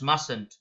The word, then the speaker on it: mustn't: observation is needed here the pronunciation is mustn't but if you carefully look the spelling is must not so it is m u SN then apostrophe T but you mustn't pronounce it as mustn't you mustn't is the correct sound correct pronunciation all right now what